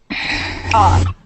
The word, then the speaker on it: awe: And this word, AWE, who can tell me how to pronounce that? Oh, Ah. It means it's pronounced ah. Let's all say that together.